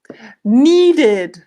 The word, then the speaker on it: needed: So usually when there's a D or a T sound at the end of the verb, we change it and we make it into id.